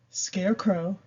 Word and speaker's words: scarecrow: And while we're on this is a long A because this E is here, scarecrow, and this is a short A.